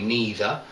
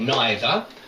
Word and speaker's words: neither: is British English but very often now in England too you hear people say neither but neither um bath okay um softer